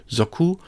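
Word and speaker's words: 族: The next one in the list is the character for family or clan with the pronunciation zoku, like in kazoku.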